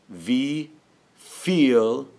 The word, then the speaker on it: wie viel: Wie viel, that V is like an F.